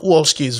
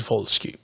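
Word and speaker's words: Dariusz Wolski: eric messer schmidt news of the world darius volsky has never pronounced a polish name without pronouncing the w properly so it's not walsky's volsky shut up no madland joshua james recharge and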